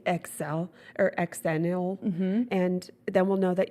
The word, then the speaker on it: Xennial: If you were in that special 6 years, you are, cheers, Xennial. Xennials. Xennials, what I like to say. Xennial. Eggs. The X is See? the X, but you say it with a Z.